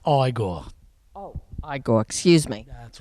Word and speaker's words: Igor: I have with me now Igor or Warren Shine. Warren is is is a funny man. Anyway, he was fabulous. It's pronounced Igore.